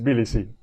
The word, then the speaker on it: Tbilisi: city t-b-i-l-i-s-i how do you say that it's bdc oh i see the alphabet stuff that that